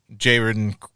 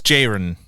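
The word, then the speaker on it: Jeroen: Uh Jayron Krabby. Krabby Krabby. I don't think you pronounce any of that correctly. I do know it's Jiren.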